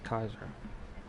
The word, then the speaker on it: Caesar: became J's and thus the pronunciation they came Julius Caesar later on whereas the older pronunciation would have been Julius Kaiser and you also see